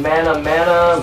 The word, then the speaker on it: Manamana: somebody and they're like how do you say the name mana mana May man no not mayonnaise it's phenomena right you know and then